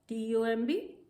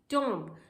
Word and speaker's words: tomb: T-O-M-B, tomb. But no, this is not tomb, this is tomb.